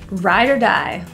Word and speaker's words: ride or die: ride or die friend the ore in this phrase is pronounced as a quick ER rather than even pronouncing the O at all Ryder Rideshare just refers